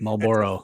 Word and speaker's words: Marlboro: know b-o-a-r-o come on don't try and over pronounce it Marlboro Southern Maryland City Marlboro